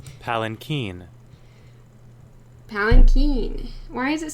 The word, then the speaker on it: palanquin: And they'll say, no, there's an N in there. It's not palanquin, it's palanquin. The N is just so soft that I just missed it, okay?